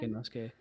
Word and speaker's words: Inosuke: Is it Inosuke? Yeah, that looks like Inosuke.